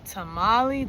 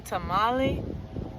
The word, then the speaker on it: tamale: You want the tamalei? T is for tamalei. Tamale. Tamale. Is that how you say it? I know it's not tamalei. They don't have those sounds. It's probably tamale.